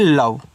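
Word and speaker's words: love: यल ओ वी को पढ़ते हैं लव, तो यानी कि केवल आपको यहाँ पे यल से ला कहना है, वी से वा, यानी इन दोनों का उच्चारण आपको नहीं कहना।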